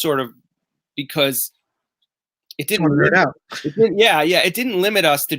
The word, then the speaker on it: Knerdout: And then Brian was the one that came up with the he's like, what if we put a silent K in front of it?